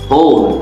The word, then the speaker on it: whole: Whole, W-H-O-L-E, whole বলার সময় মুখটাকে একটু গোল করে বলতে হবে, W-টাকে সরিয়ে দিয়ে আমরা কি বলবো? H-O-L-E, উচ্চারণটা হবে whole, like this.